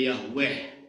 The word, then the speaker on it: Yahweh: terjemahan dari bahasa Ibrani yhwh yang merupakan perjanjian Allah dengan sering diucapkan sebagai Yahweh Qiroah Hai gigi sebenarnya